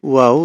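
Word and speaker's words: واو: হরফ দেখি ওয়াও দেখেন ওয়াও দুই ঠোঁট থেকে উচ্চারণ হবে আমরা ঠোঁটকে এরকম করে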